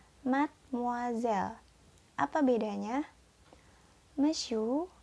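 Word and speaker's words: mademoiselle: tulisan Made moiselle ya yang pertama yang dibacanya mesiu mesiu yang kedua dibaca madam Hai nadam dan yang terakhir dibaca Mad muzzle Apa bedanya I miss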